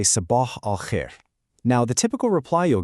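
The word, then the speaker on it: صباح الخير: For good morning, you say sabah al-khair.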